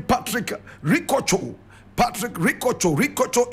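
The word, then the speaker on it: Rikotso: Ricocho is spelled R-I-K-O-T-S-O. Ricocho.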